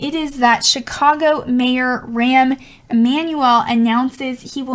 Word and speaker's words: Rahm: So Chicago mayor, and I think it's pronounced Rahm.